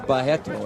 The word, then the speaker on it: Barreto: Teligman is defending well against the low kick attempts there by Carlos Barreto. Or Bahetto, as they pronounce it in Brazil.